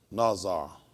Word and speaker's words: Nazar: I think it's so. Nazar. That's how you pronounce it.